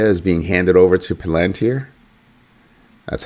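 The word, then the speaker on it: Palantir: That's Palanteer. That's how it's pronounced.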